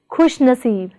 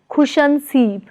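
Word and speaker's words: खुशनसीब: Prefix khush plus stem naseeb is pronounced as khushnaseeb, not as khushanseeb, but as khushnaseeb.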